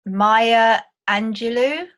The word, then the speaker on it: Maya Angelou: Maya Angelou is that how you pronounce do you know um yeah that's that's